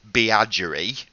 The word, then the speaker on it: Beagry: Just to recap what we talked about, she's a Twitter friend of both Beagry, who she pronounces Beagery, and we, which I thought was quite funny.